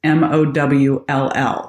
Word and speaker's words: Mowll: And then it's not spelled like it sounds. It's MOWLL. So Dr. Mowll, MOWLL.